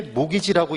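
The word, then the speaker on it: mortgage: 그래서 얘가 바로 뭐라고 읽을 때이 t가 묵음이래 묵음 묵음은 무기라고 소리내는게 아니에요 농담인데 재미가 없나봐 그래서 묵음은 소리를 내지 말라는 거잖아 그래서 얘를 읽을 때 모기지라고 있는 거죠 이게 모기지라고 목이지 그게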